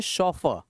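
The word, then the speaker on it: chauffeur: जो वर्ड लिखा है इसका प्रोनंसिएशन होता है शॉफर शॉफर का मतलब होता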